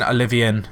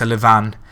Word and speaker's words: Olivan: And I know his name isn't Olivian, it's Olivan.